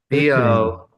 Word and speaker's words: Böcklin: Böcklin.